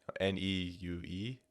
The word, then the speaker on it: Neue: I had one college professor who was very adamant about the pronunciation, because everybody wants to call it Helvetica New, but it's spelled N-U-E, can't think, N-E-U-E or N-U-E-U.